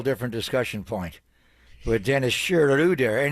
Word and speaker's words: Schröder: discussion point with Dennis shuder and his name is pronounced shudder not schroer I love gu i'